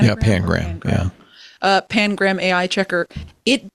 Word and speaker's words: Pangram: Is it Pangram? Yeah, Pangram.